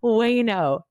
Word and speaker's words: Uyeno: Wayno. Uyeno. Yes, my husband is Japanese and my new last name, Wayno, looks like Uyeno, but easy way to remember it is like no way, Wayno.